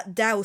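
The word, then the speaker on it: Tao: But yeah, this is William Dickerson, who's written a book called The Dow of Twin Peaks, uh, Dao spelled with a T, you know, T AO.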